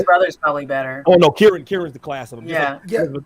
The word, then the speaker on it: Kieran: Yeah, Kieran.